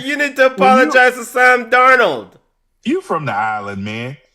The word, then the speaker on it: Sam Darnold: It's Sam Darnold. Darnold. Is what? Which one is it? Sam Darnold. Yes. Yeah. Yes, Sam Darnold.